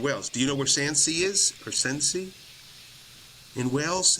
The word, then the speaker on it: Swansea: Is it Swansea? Is that how you say it? Swansea.